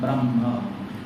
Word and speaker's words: ब्रह्म: इसमें थोड़ा पहले श्लोक में ब्रह्मा लिखा है ना, ये ब्रह्म, इसको सुधार भी लेना और उच्चारण में भी ब्रह्म, ब्रह्मा नहीं ब्रह्म बोलते एक साथ।